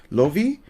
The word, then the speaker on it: Love: One of the Koreans that I spoke to says pronounced Lovi, even though Lovi? even though it's said love. The Korean Hangul is supposed to be like Lovi.